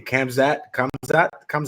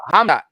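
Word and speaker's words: Khamzat: You know I suck at pronounce his names, but let's talk about my man Kamzat, right? Hamzat. Don't say the K.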